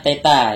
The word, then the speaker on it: theta: Jadi ini bacanya theta ya, theta, bacanya theta.